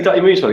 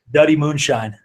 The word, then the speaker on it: Dutty Moonshine: So wait, so as we're talking about Dutty Moonshine, can you just say Dutty Moonshine? Can we hear how you say it? Dutty Moonshine.